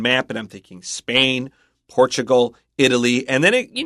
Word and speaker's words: Portugal: but watch out for Portugal Chris pronounced the L but when I learned it as a kid it was just an o sound Portugal interesting Portugal have you ever heard